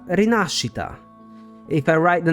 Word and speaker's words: Rinascita: are actually two here first of all the s Italian sound does exist in English it's the sh sound so it should have been she but above all they stress the wrong syllable the right pronunciation is not reita but rasita if I write the